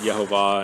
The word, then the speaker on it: Yehovah: So we pronounce it Yehovah, and one of the reasons we pronounce it Yehovah is because of the work that Nehemiah Gordon has done in studying out the name and how it's written.